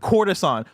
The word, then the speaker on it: courtesan: And then there's a word courtesan. Coruscant is like Coruscant. Okay. Courtesan is like court.